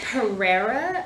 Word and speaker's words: Pereira: So, how do you pronounce the Pereria decision? I believe it's Pereira. Interesting. Pereira. It's Brazil. It's a Brazilian foreign national's name.